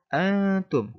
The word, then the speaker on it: antum: Antum. Nun mati bertemu ta. Hukum bacanya adalah ikhfa, yang mana harus menyamarkan suara nun dan memasukkan ke huruf ta sehingga dibaca dengung. Antum.